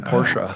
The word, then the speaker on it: Porsche: I'm positive you're right are you supposed to say Porsche or Porsche Porsche you're supposed to say it like that ah well I don't think I can do it Ferdinand Porsche who created the company that's how he pronounced his name porsa I don't know Ferdinand